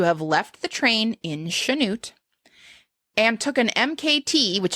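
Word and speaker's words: Chanute: sha is it CH it is spelled CH yes but apparently pronounced like an sh that happens I don't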